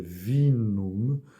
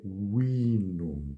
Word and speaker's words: vinum: portuguesa vinho em latim na pronúncia tradicional seria vinum mas que na pronúncia restaurada é inum Portanto o v é pronunciado u e outra letra para